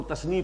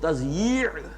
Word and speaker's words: تضییع: میں لکھا ہوتا ہے تو لوگ تثنیہ پڑھتے ہیں اسے، تثنیہ اوقات. یہ جو کہتے ہیں وقت کو ضائع کرنا تو وہ تثنیہ پڑھ دیتے ہیں اس کو، وہ تضییع ہے.